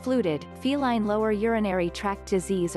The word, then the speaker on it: FLUTD: Pronounced fluted, feline lower urinary tract disease or FLUTD refers